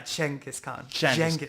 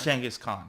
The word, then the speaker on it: Genghis Khan: So it's somewhere between a soft G and a CH. So it's a Genghis Yeah. Genghis Khan. Khan. Genghis Khan. So like start with the G and end with the CH.